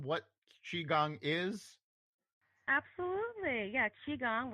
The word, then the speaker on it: Qigong: Yeah, Qigong, which is pronounced Qi, like Chee Gong, and it's meditation with movement.